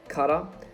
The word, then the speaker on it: Qatar: is group a obviously you have your hosts cutter that is how you pronounce the country qatar senegal netherlands and ecuador